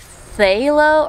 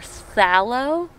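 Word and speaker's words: phthalo: Apparently like thalo or thallo. It's either way really.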